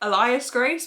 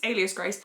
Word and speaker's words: Alias Grace: Margaret Atwood in there I in my head have been pronouncing it Elias Grace but it's it's Alias Grace I got this book